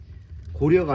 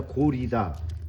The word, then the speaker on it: 고려: 이게 고려가 아니라 고리다. 고구리어가 아니라 고구리다. 근데 어 내가 생각하기도 고리 고구리 고리가 맞는 거 같은데 이게 언어라는게 이제 사회성이 있다 보니까 뭐 많은 사람들이 고려라고 읽으면 그 방법이 있나? 그냥 고려 하면 고려가 돼 버리는 거지.